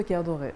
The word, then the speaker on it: Kerdoret: Maison de Caire Doré. De Caire Doré. Voilà la bonne prononciation.